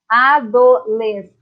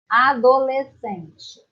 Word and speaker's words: adolescente: Então, para divisão, adolescente. Agora, para você falar, adolescente. Tá? Quando nós falamos, nós não pronunciamos o S e o C.